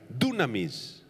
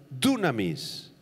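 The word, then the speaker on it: δύναμις: apunten la palabra griega dunamis con acento en la u dunamis se refiere al poder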